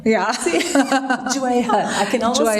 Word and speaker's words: Jewihan: Jewihan. Yeah. Jewihan. I can almost spell it.